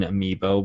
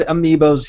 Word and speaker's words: amiibo: We were talking about how you pronounce and talk about amiibo, the plural being amiibo. We've said amiibos here sometimes on the show.